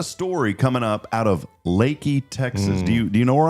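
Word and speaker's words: Leakey: That's Lakey. It's pronounced Lakey. Yeah, Lakey. I used to say Leaky, but it is pronounced Lakey.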